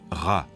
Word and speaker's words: Ra: Champolion s qu copte il se prononce RA en bas une lettre